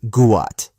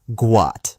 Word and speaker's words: Gout: His name is supposed to be Guat, pronounced Guat. But because of the mix-up, it became Gout Gout.